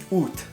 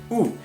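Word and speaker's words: août: you'd pronounce it as boot you pronounce the T at the end but in Canada you don't press the T so you just sounds like ooh and if you use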